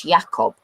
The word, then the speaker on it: Jakob: Sometimes it came through as the English name Jacob. But the majority of the time it came through as the German name Jacob, which is Jakob.